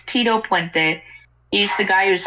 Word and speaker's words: Tito Puente: Yes, I mispronounced his name accidentally. It's Tito Puente.